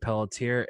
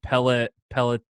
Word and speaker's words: Pelletier: you all doing today my name is Peltier and today I've got Adam Solomon from New